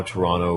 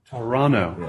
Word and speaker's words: Toronto: of this city well they don't pronounce the second t so it's toronto toronto okay not toronto not